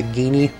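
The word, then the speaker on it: Ghini: a new enemy it's known as a guinea g-h-i-n-i yeah it's actually spelled like that and then here we've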